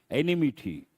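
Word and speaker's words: enmity: of the word enemity no I letter e n m i t y but what do we say enemity spelling is different and the other word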